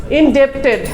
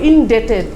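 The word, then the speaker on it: indebted: এটার উচ্চারণ হবে ইনডেটেড, মানে আসলে হলো মনে হবে ডেপ্ট, আসলে হলো উচ্চারণ হলো খেজুর বা ডেটের উচ্চারণ।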